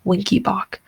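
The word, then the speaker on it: Wenckebach: or it's also called winky bach and the mnemonic here is winky bach kind of sounds like the word wink you kind of wink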